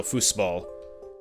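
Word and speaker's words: Fußball: nine dossiers mine foosball i'm not sure what that uh symbol is supposed to be pronounced like i never did take german studies took german 18 years ago oh that's so fussball okay my german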